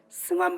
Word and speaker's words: 승환: 김산 후원입니다 제 이름이 필선이 발음을 못해요 승환 발음 승환 승환 그래요 그래서 바꿨어요 비슷한 스페인 이름